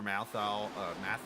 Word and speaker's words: Matthau: Of course, she had Walter Matthau, I think is how it... His last name's actually spelled like Matthew Weeks' name, but yet Matthew's Matthew.